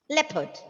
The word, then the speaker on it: leopard: Leopard. Actually, there is a rule for letter R, the situations where letter R goes silent. For example, if it comes before a consonant letter, the letter R is silent.